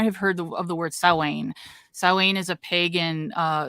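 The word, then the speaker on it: Samhain: heard of the word sa sa is a pagan uh celebration you probably heard it pronounced Sam Sam that's how they said Real Ghostbusters yeah it's sa and so sa is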